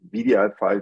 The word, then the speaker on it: wdi5: but we pronounce it vdi file because the W like trips your tongue every time you say it and um because it's